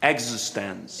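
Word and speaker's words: eXistenZ: Yes, that is how you pronounce it. Existence.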